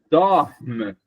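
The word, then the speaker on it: dorment: Mas o n, essa outra vogal, ela não é pronunciada. Isso quer dizer que essa palavra, gente, só tem uma sílaba. Meu Deus. Tá? Porque como eu não vou pronunciar o NT, não, não vai contar como sílaba. Então eu vou sempre pronunciar forte a vogal anterior.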